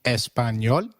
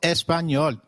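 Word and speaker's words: español: ah as in father did you notice the letter enya in espanol this letter is peculiar in Spanish it is pronounced as me like in Canyon so can you try saying espanol it is called espanol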